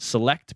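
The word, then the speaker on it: Celect: sensing firm which is I believe it's pronounced select but it's with a C and they said that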